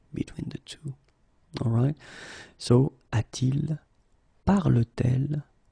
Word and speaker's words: a-t-il: to modify it, and we will add this T here. Okay, so you will get this form, a-t-il. All right, so il a should become a il, but then it doesn't sound nice, so it's a-t-il.